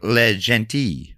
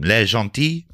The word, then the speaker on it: Le Gentil: How did you pronounce the bit that's like le gentil? Well, you say it's a silent L. It looks like le gentil.